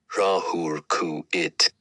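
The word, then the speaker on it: Ra-Hoor-Khuit: R E A dash H O R Dash K H U I T pronounced Rahuluru it.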